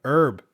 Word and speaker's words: herb: If you have a herb garden, get my Canadian pronunciation of H or H. If you have a herb garden and you have